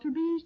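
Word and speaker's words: Tubize: They're called to-be's chardonnized garments, which means that the fabric is a to-be's, and to-be's is spelled T-U-B-I-Z-E, rayon pre-tested for tailoring, washability, and wear.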